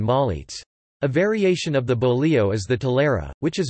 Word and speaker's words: bolillo: A bolillo, Spanish pronunciation, bolillo, or pan francés, meaning French bread, is a type of savory bread traditionally made in Mexico but also made in Central America.